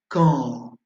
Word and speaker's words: quand: Si vous voulez prononcer quand, le pronom interrogatif, quand, hein, le deuxième sur l'écran, prononcez bien en relâchant les muscles.